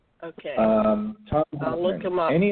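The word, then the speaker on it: Thom Hartmann: It's spelled Thom. And his last name is Hartmann. I think he has two N's at the end of his name. Okay. Tom Hartman.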